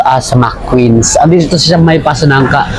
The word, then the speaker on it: McQueens: pero yung it is mostly um it is pronounced as mcqueens Ando si may pasonangka k and pala mqueens